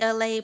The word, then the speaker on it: Elay: It's me, LA, pronounced like LA, like the city.